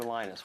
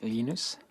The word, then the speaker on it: Linus: Torvalds came along Minister Linus what's exactly your preferred pronunciation when I speak Swedish it's heinous when I speak Finnish it's Lino's when I speak English its Linus and I really don't